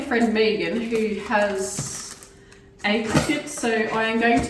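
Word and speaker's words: Cricut: do not play cricket that is cricket or you might say crycut uh it is pronounced cricket and they have sent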